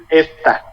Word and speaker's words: esta: For example, as I said, this is pronounced esta. The tonic syllable is es.